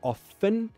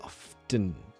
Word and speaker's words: often: either sometimes i say often sometimes i say often your choice is based on your mood you know never thought